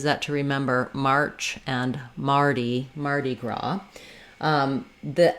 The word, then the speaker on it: Mardi Gras: to remember March and Mardi Gras. The S is silent, and the letter I says the E sound, so it's actually very similar to how we say the man's name Marty, in that we use